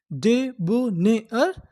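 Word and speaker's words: debonair: डी ई डे, बी यू, इसे क्या पढ़ेंगे, बो, डेबो, एन ए आई आर को क्या पढ़ते हैं, एयर, और आगे एन है, तो हमारी पूरी मीनिंग क्या बनी, डेबोनेयर, डेबोनेयर।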